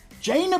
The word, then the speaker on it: Jaina: everyone we don't judge I think it's pronounced uh ojena jaina proudmoor more China like vagina that's how you remember it right this lady's got a